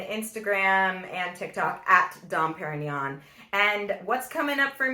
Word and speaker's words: Parinyon: So you can find me at Dom Parinyon, spelled semi-phonetically, not like a certain brand, and it's Parinyon.